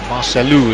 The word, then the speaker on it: Marcelo: Free kick awarded to Marcelo. Well, Marcelu, as the Brazilians pronounce an O at the end of their name.